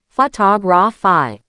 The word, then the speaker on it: photography: But if you change it to photography, the stress shifts to the second syllable, photography.